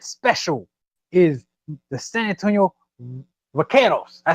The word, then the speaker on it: Vaqueros: And my upset special is the San Antonio Vaqueros.